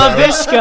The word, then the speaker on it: Laviska: Laviska.